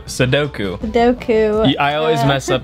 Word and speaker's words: Sudoku: already finished the sudoku suduko suduko no no that's not what it is sudoku doku i always mess